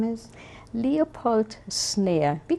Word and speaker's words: Szneer: Leopold Snare. We call him Poldi. Snare, right. And Spell that for us.